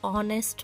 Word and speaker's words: honest: Dash hour, dash honest man. Now children, you all know here H is silent, right? H is silent in honest man also. H is silent.